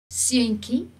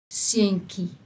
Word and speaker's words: seuntjie: Seentjie, we pronounce ki, although TJ normally is ch, but we pronounce it when it's in a diminutive form, we pronounce it ki. So, seentjie.